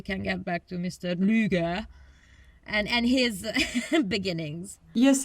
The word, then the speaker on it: Lueger: name uh incorrectly so it's not lurger it's luger luger i i think it would be luger because it's the ue thing so i i defer